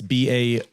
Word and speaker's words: Baruch: So it actually was said by the guy, I tried to pronounce his name at the beginning, Bernard. Baruch. It's Baruch.